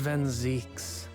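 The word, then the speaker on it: Van Zieks: Lord Van Zeeks, Mr.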